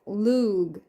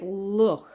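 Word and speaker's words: Lugh: Lug. I think it's Luch. Luch. I know you don't pronounce it Lug. I know that's not how you say it.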